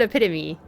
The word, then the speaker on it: epitome: to pronounce yesterday epitome she said epitome so maybe that's the main way that people pronounce it uh this poor guy